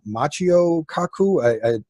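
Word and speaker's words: Michio Kaku: weeks because I forget that fellow's name it's pronounced his name Macchio Kaku a Japanese physicist fantastic he just gave a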